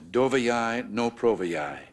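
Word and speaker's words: Доверяй, но проверяй: General Secretary, though my pronunciation may give you difficulty, the maxim is Doveryai, no Proveryai.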